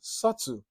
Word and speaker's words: subtle: present in the pronunciation subtle wh the B is silent only is realized the